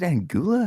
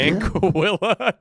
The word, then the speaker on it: Anguilla: I've done it in Is it Angula? How do you say that? Intro. Anguilla.